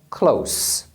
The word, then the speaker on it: close: que é a palavra Close Olha só Close com som final de z é o verbo fechar agora a palavra Close